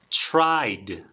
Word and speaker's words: tried: escucha una vez más tried mm a ver tried en este caso es la forma pasada chicos de tried al final la d tried Okay tried the